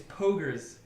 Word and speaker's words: poggers: me well cougars well how would you pronounce it then pop poggers a hard o ah an ah pop pogers pogers oh and oh pogers it's pogers that's a test you